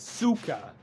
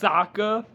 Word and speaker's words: Sokka: Okay, another name is Suka. It's pronounced Sokka. She's another main character in the animated series. They pronounce her name as Suka.